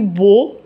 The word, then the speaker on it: beau: Alors, commencèrent les plus beaux. EAU, ça prononce O avec B, beau, beau jour.